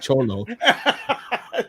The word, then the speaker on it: Xolo: His name's not Cholo. Well, it's spelled XOLO, but it in traditional Spanish that X is pronounced like a CH, so it is Cholo.